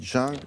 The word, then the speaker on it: jungle: Attention, jungle, ça peut se prononcer comme ça, vous avez les deux versions. Vous dites jungle ou jungle, ça marche, en français.